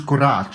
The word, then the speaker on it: courage: courage and you know when you say it in French it's qurat it's like wishing you